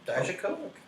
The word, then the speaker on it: Dijakovic: That's how it's pronounced? Yeah, Dijakovic.